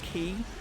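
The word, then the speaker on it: χ: like like the weird Latin X which is pronounced key but anyway so there's a mega keyblade called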